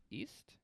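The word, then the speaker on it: Eist: There the queen and the king East. E-I-S-T. East. I feel like some of these names are meant to be pronounced with like an accent.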